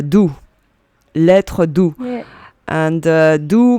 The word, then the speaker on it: Doux: So, for the French, when we hear a blogger or vlogger saying Dukes, it cracks us because... yeah, it's funny. yeah, in French, you pronounce it doux, lettre doux.